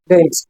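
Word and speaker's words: didn't: आपको दिखाई देगा और इसको प्रोनाउंसिएट करेंगे डिडट क्या बोलेंगे डेंट ना पूरा ट और ना पूरा ठ डेंट हां एट को एट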